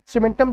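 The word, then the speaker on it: cementum: अब देखो यहाँ पे सीमेंटम जो है एक कैसा लग रहा है, सीमेंटम जो है सुनने में सीमेंट के जैसा प्रोनाउंस हो रहा है ना, हाँ बस ये बिल्कुल सीमेंट के जैसा होता है।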